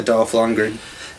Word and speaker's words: Dolph Lundgren: Mel Gibson, Dolph Lundgren, did I say his name right? Yeah, Dolph Lundgren.